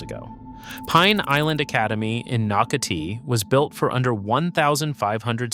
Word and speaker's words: Nocatee: Say it correctly, Nocatee.